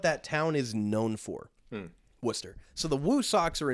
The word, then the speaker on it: Worcester: It's Worcester. Worcester. The Worcester Red Sox. Woonsocket's another town in Rhode Island that's also got a bad reputation. But for a right reason. Worcester, Mass, which is spelled Worcester.